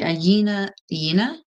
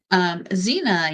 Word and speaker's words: Zina: But what I did write down was the Yina. Why did I do the Mexican pronunciation? Yina. Zina yeeting people around is just always impressive.